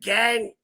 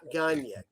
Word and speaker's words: Gagne: Let's go with Greg Gagne, not Gagne.